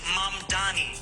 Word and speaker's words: Mamdani: and furthermore, the name is Mom Donnie. M A M D.